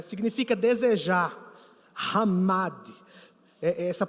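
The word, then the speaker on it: חמד: Significa desejar, hamad, essa pronúncia no hebraico.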